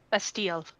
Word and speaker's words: Bastille: The I is The I does not get pronounced. It's Bastille.